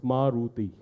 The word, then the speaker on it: Maruti: old car talk and to pronounce the name of the car you need notes investigation three syllables Maruti no offense if I